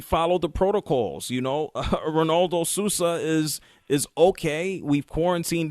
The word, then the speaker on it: Ronaldo: One tweak is in the Portuguese, they pronounce the R with an H, so it's Ronaldo.